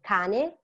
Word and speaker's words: cane: Double consonants are very important because they differentiate words. For example, cane, canne. Cane is dog, canne is read. It's important how you pronounce them and it's important how you spell them because you can actually mean different words.